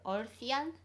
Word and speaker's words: Earthian: 약간 그 earthian 이렇게 네, 읽어야 될 것 같긴 한데 근데 이제 그 한국어로는 우리말로는 어션 어션.